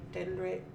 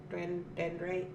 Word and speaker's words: dendrite: this is a then we have a dendrite dendrick dendrite agate say it right you're welcome so this